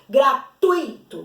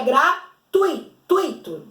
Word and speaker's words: gratuito: nos aulas anteriores do gratuito gratuito gratuito não é separado que o hiato o iago separado de toda junto então é gratuito se pronuncia ele junto eu tô falando de